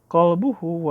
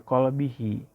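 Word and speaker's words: قلبه: Ada juga yang bacanya qalbahu wa lisanahu. Ada juga yang bacanya qalbihi wa lisanhi. Nah, hemat saya yang lebih tepat adalah dibacanya qalbihi wa lisanihi, karena dia adalah sebagai penjelas kalimat asgharaihi.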